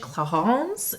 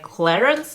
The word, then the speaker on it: Clarins: It's called in French Clarins, and in English I believe that you pronounce it like Clarins.